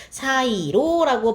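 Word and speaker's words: 새로: 그래서 세로라고 발음하시면 안 되고요. 사이로라고 발음하셔야 한다라는 차이만 좀 잘 봐두시면 되겠죠.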